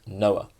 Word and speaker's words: NOA: attitude uh or the the acronym there is pronounced Noah so this is a